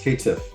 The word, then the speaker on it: Caitiff: There's no L in there. It's just Caitiff. Caitiff, okay.